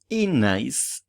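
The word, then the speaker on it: ez naiz: Fíjate que se escribe es naiz, pero se dice enaiz. Enaiz. La Z con la N, al juntarlas, desaparece la Z.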